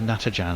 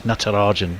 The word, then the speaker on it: Natarajan: exp always get natarajan is it natarajan natarajan he's from Salem Tam I always think of it as Natan as in like like Nat Jack toad but it's natarajan I beg his pardon the